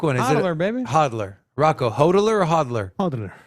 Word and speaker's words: hodl: Hodler or hodler? I mean, it is Pick what one, it is, bro. pick one. It's our generation here, baby. Pick one. Is Hodler, it baby. hodler?